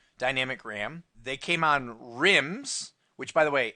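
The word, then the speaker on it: RIMM: Ram they came on rims which by the way r-i-m-m does not stand for anything it just rhymes with The Sims and dims okay so it's rambis's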